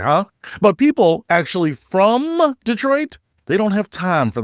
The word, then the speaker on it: Detroit: The D isn't even really a D sound. It's more of a duh, like da or did. It's Detroit. One fluid motion, no theatrical pauses, no emphasis on individual letters, just a casual, effortless